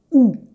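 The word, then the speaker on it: houx: prononciation difficile le premier ou facile on ne prononce ni le h ni le x oui ok je sais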